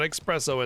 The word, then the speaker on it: espresso: It's not espresso, it's espresso. It's especially mispronounced.